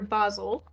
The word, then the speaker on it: Basil: to know so actually Dr Basel we're going with the British pronunciation um I'm Artemis I